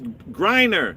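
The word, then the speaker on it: Griner: She is Grryer. What does it rhyme with? Miner.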